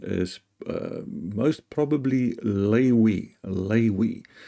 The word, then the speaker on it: Levi: called the tribe of Levi but um a more accurate pronunciation is uh most probably lewe lewe the w the VAV is more a w a w sound and not a v sound and it's a t